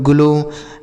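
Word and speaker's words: glow: तो ओ W last में अगर रहेगा तो हम ओ की मात्रा पढ़ते हैं। ठीक है? ये सब चीजें हमने बता रखी है पीछे की वीडियोस में। यहां पर तो हम आपको शब्दों को पढ़ना बता रहे हैं ना। वहां पर हमने नियम से बताया है कि ओ डब्ल्यू रहे तो ओ की मात्रा पढ़ते हैं।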